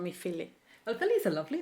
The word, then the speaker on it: Philly: oh you're very welcome would you like to be called Philly or Philly Philly okay great my name is in Italian is the pronounce is yeah but it's so heavy I didn't like it